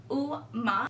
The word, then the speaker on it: UOMA: website about my beauty it does say uma Beauty is buy it is electric pronounce oh ma it means beautiful in